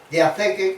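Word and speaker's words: διαθήκη: pues en vez de poner pacto en griego, diatheke, que es como se pronuncia en griego, puso en latín testamentum.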